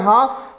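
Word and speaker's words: half: हाफ है, L silent है इसमें, इसको पढ़ते हैं हाफ।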